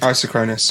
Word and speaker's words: isochronous: isochronous yeah i s am i saying it right i don't know i don't know i just oh right you know i've i've written it down i'm just that's how i'm saying that that's the correct iso it isn't you are saying it correct i did isochronous